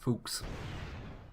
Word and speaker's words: Fuchs: I know this is pronounced, it's pronounced Fuchs.